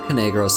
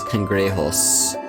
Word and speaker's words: Cangrejos: But whatever, it's not Canegros, it's Cangrejos.